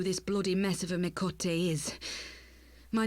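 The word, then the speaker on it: Miqo'te: bloody mess of a mikote is my name is and I belong to the alamigan resistance I've been pronouncing me coat mikote incorrectly this whole time I came to Oneida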